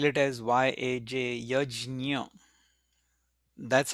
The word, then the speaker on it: yajna: In classical Sanskrit, they spell it as Y-A-J, yajna. That's how the pronunciation is. In Hindi, they will pronounce it as yagya, and in some other languages, they may also pronounce it as yagna.